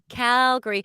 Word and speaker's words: Calgary: there i will calgary calgary although it's spelt calgary but never say it that way we say calgary cal gary good morning we're talking